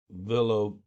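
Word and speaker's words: Villalobos: Armando Villabobo Villobos. That's how you pronounce it.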